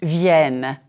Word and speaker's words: vienne: The third person plural of venir is vienne. Note the double N. This double N denasalizes the vowel. It is the vowel E that you practiced in lecture 5.